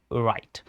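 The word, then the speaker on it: write: तो यहां पर डब्ल्यू क्या रहेगा? शांत रहेगा। चुप रहेगा। यानी डब्ल्यू की कोई साउंड नहीं आएगी। है ना? तो यहां पे आप कहोगे सर राइट। इसको पढ़ना कैसे है? डब्ल्यू आर आई टी ई राइट। W silent.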